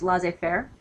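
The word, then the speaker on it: laissez-faire: French is not good but that is is pronounced L Fair uh L Fair form of leadership is really not much leadership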